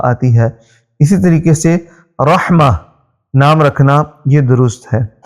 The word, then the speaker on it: رحمہ: رکھنا یہ درست ہے۔ اور اس کا ایک دوسرا تلفظ بھی ہے جو کہ را کے اوپر ہم پیش پڑھیں گے، رحمہ، تو رحمہ بھی اس کو کہہ سکتے ہیں، تو لیکن اس صورت